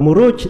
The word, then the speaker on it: Muruj: Tapi kalau muruj itu dari maraja. Muruj. Nah, itu baru benar maknanya. Murujud dhahab.